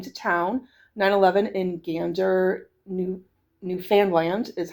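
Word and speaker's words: Newfoundland: pronounce Newf Foundland was it rhymes with understand. Um, so it's not Newf Finland and it's not Newf Foundland.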